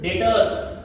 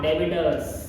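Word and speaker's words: debtors: डेटर्स नॉट डेबिटर्स B silent. B को नहीं पढ़ा जाएगा।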